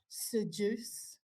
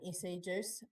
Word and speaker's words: Seduce: Seduce. I was saying it wrong for so long. I was just calling them SE juice. I found out on the Saturday at Christchurch VapeDay, you say seduce.